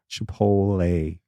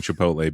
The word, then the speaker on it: Chipotle: the tea in Chipotle in Chipotle yes no Chipotle this is another Snuffaluffagus yes it is in